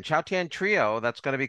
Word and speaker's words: Chautauqua: She is part of the Cathy Fink, Marcy Marxer, and I believe it's pronounced Chautauqua. Chautauqua. Chautauqua Trio.